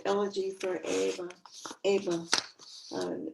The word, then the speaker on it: Ava: Ava. It's the Spanish pronunciation of Ava.